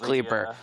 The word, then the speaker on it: Kleiper: Somebody tell Joe the Israelis guy's name is pronounced Kleiper.